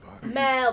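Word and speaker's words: Merle: Mel, not Meryl. Yeah, goodbye, Mel. Mel. It's Mel, not Meryl. You said Meryl. Yeah, that's how you put. Oh, well, that's how he pronounces it because he's a redneck.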